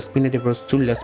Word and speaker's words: Spina di Rosula: A peaceful night passes under the Spina di Rosula's protection.